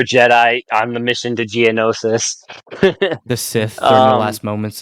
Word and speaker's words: Geonosis: was it how do i pronounce the enosis geonosis yes during uh the rise of the clone